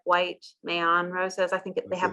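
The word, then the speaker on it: Meilland: This is it's Mayan roses, and initially when I looked at it phonetically, I said either Mayland, and I reached out to Matthias Mayan and asked him directly. I said, please correct me.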